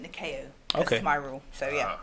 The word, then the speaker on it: Nikao: and even those mentor you pronounce the cow I pronounce it nação okay my rule so